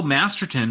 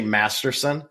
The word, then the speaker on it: Masterton: to pronounce it because every time I've read that name for an award I say Masterson I don't know why it's just how I am I know it's masterton but I have been corrected